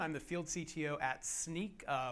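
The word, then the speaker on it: Snyk: the field CTO at sneak uh which is pronounced like a pair of sneakers or sneaking around uh it also is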